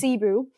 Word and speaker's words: Sibu: And Sibu, it's spelled Sibo the way that they found it, and all the Sib. Anyway, but it was pronounced Sibu.